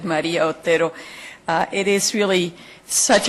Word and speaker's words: Maria Otero: claudo doesn't know that in this country I pronounce my name Maria Otero but it's it's very good to have it said Maria Otero uh it is really